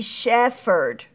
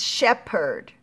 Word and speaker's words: shepherd: the syllables was because look at that pH that's not making an F sound then it would be shefford its Shepherd mm-hmm so and a shepherd